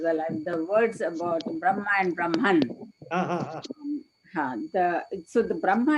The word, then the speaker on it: Brahma: And when we are referring to the four-headed Brahmaji, we say Brahma, the long A.